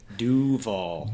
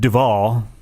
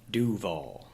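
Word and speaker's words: Duvall: Yeah, get the pronunciation right. We're giving you privileged information here. It's like our secret handshake. Duval. Not Duval. Duval.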